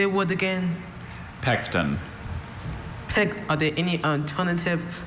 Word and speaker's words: pecten: Pecten. Pect. Are there any alternative pronunciations? Just the one. Pecten. Pecten. And it still has that schwa.